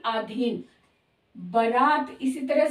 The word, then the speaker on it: बरात: गई या बारात तो बारात शब्द नहीं सही होता बारात शब्द सही होता है बरात जिसमें ब में आ की मात्रा ये गलत है ब में आ की मात्रा नहीं होती र में होती है बरात सही शब्द है इसी तरह से आहार